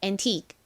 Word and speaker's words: antique: 귀중한 골동품이 i 부분을 좀 길게 발음해 주셔야 돼요. 그래서 an이 아니라 antique antique 이렇게 소리 내 주셔야 됩니다.